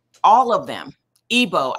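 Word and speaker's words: Igbo: Ebo, I'm sorry, the tribe is pronounced Ebo.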